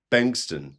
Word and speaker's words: Bengtsson: who you are, um please uh your name is spelled uh Bent B A B N T, but your surname is Benston.